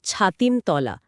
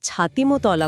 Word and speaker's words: ছাতিমতলা: পরিষ্কার করে নেই হ্যাঁ উচ্চারণটা কিন্তু ছাতিমতলা অনেকেই মানে ভুল করে ছাতিমতলা বলে ফেলে 1863 সাল মহর্ষি দেবেন্দ্রনাথ